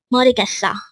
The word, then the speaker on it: 모르겠어: This pronounced as a four-syllable word. The first syllable is mo, second syllable is 르, third syllable is gets, and fourth syllable is o.